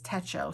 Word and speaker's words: Techo: Nietzsche Tech show and I know it says Techo but everyone says Techo so I think that's how you're supposed to pronounce it and then I